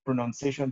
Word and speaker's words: pronunciation: But when it is in the other form, it is pronunciation. It is N-U-N, not N-O-U-N. That should also inform the way that you pronounce it. Pronounce is N-O-U-N. Pronunciation is N-U-N. So it is not pronunciation, it is pronunciation, N-U-N.